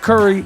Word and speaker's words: Curry: of course just like Steph Curry last name rhymes with hurry behind rap for stereo